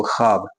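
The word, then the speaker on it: ख़्वाब: उसे पढ़ा ना जाए जैसे पढ़ेंगे इसको खब खब लेकिन वाव है है ना लेकिन लिखा जा रहा है लेकिन पढ़ा जा नहीं जा रहा मतलब व साइलेंट है खब क्या बोले खब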